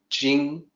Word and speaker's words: Ching: that when you use ch ing without an apostrophe is supposed to sound like J so the will you look at and say Ching is actually Jing ji ng sound in the way Kyle